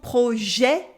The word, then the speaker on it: projet: So mener son projet with an open E at the end of projet. The silent T at the end as well.